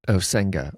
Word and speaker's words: Osenga: Well, I say it Osenga. All my family that lives near you says Osenga, but they pinch their nose.